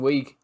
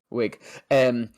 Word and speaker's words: Wiig: But the one that I found was Kristen Wiig. Is it Wiig? Is that how you say it? Wiig, isn't it? From is it just Wig? Oh, I think it's just Wig, yeah. Wig.